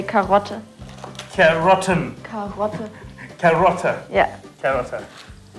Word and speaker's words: Karotte: That's easy, you say Karotte.